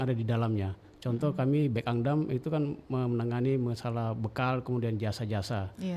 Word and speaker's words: Bekangdam: Bekangdam bacanya ya. Bekangdam. Saya selalu bilang Bekang gitu ya.